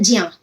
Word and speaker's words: ज्ञ: जैसे ज्ञा, संस्कृत में ऐसा बहुत से लोग ज्या भी बोलते हैं, ठीक है। ज्या या ज्ञा, जो बच्चे हिंदी के हैं वो ज्ञा बोलते हैं, वैसे इसका शुद्ध प्रोनाउंसिएशन है ज्या। और ज्या जैसे ही आप बोलोगे, जा और या की साउंड आएगी।